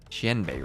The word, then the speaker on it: Xianbei: Oh, Xian rhymes with pen. So, Xianbei Raiders? Xianbei Raiders.